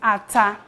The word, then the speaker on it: ata: of common food ingredients when you want to pronounce pepper in Yuba you will say at three letter word is in English we call it pepper pepper is ATA we use pepper to